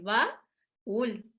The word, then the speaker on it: baúl: a ese cofre, es baúl. Y aquí sí hay una y dos sílabas. La U tiene un acento, ¿sale? Como nosotros lo pronunciamos así, se le pone acentito. ¿De acuerdo?